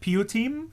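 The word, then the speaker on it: piyyutim: it correctly all right pu team pu team p uh p uh p i y y u t i m is it right you got it right so so uh you team pu team is in itself a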